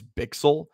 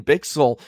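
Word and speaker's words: Bichsel: I just learned it is bixel which I think sounds a lot cooler than bishell so I apologize to him not that he's watching but just want to make sure I have the correct pronunciation so lean bixel um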